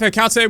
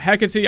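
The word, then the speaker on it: Hecate: next up we have heate which I'll throw to a0 I think her rework design or should I say hecy I've been saying it wrong people have been crying about it hecky I think is a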